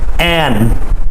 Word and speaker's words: and: you the truth and we do not make the d sound and okay we just say and without the d sound food and good